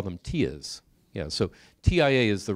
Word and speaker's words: TIA: Has anyone ever heard TIA, or some people call them TIAs? Yeah, so TIA is the right way to pronounce it.